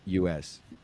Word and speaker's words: hummus: If it's two M's, then you don't pronounce the name of the vowel. You actually pronounce it.